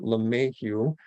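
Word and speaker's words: LeMahieu: his name is tom lemihu and uh he has a son that uh chased the baseball dream and last year his son dj and they pronounced it la mayhew when he played for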